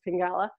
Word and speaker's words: Pingala: Well, Pingala actually is the right way to say it, but we call ourselves Pingala.